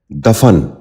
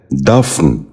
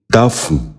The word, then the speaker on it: دفن: غور سے سنیے، دساور۔ 10واں لفظ ہے دفن۔ یہ غلط تلفظ ہے، اس لفظ کا درست تلفظ ہے دفن۔ دوبارہ سنیے، دفن۔ بچوں آپ بھی غور